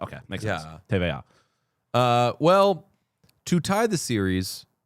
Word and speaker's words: TVA: Someone just said TVA is TV. All right. TVA. Oh, because it's French. TVA. TVA. It's the French alphabet. Okay, makes sense. Yeah. TVA.